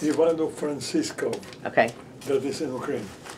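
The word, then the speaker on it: Ivano-Frankivsk: How's it pronounced? Ivano Francisco.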